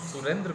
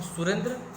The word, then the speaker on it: सुरेंद्र: सुरेंद्र को सुरेंद्र ना बोल के हम सुरिंदर बोलते हैं, तो निश्चित रूप से हम लिखेंगे भी सुरिंदर ही। तो ये गलत है ना।